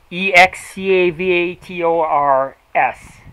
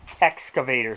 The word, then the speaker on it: excavators: no s in excavators e-x-c-a-v-a-t-o-r-s excavators not excavators I hear people call them excavators they didn't add an s in there that's not there but that's neither here